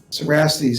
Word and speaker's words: Cerastes: Cerastes is the conventional pronunciation.